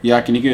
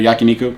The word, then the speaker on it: Yakiniku: uh it's like uh Yakiniku yeah yeah Yakiniku Yakiniku am my pronounce that is that Yakiniku yeah Bas basically like Korean barbecue but Japanese